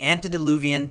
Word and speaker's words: antediluvian: The correct pronunciation is Antediluvian, with the stress on the fourth syllable.